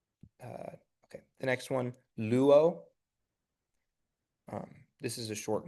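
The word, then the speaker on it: λύω: Um, but because they're not one of the listed diff thongs, we're going to pronounce them separately. So, you wouldn't try to make it like lu or something like that. It it'll be separate. Luo.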